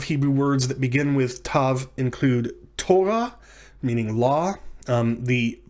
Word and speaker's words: tav: Although many grammars will tell you that it's pronounced like th in thin. Now you can decide whether you want to pronounce tav with a dagesh differently from tav without a dagesh. You can pronounce them t and th respectively, if you so choose,